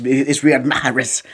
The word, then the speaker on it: Riyad Mahrez: He's like, bro, you're saying it wrong. It's Riyad Mahrez. I can't say it correctly, but now Riyad Mahrez.